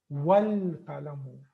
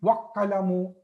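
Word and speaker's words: وَالْقَلَمُ: The qaf is from harfu qamariya, so that's why lam is pronounced here. Wal qalamu. I'm not saying wa qalamu.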